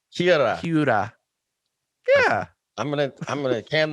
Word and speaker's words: Hiura: Well, you do it pretty well, but you make kind of a D sound and it's Hiura. Hiura.